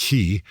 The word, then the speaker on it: Xi: By the way, I want to make very clear that the head of China, uh President Xi, I probably better pronounce that Xi, uh that he told President Biden in San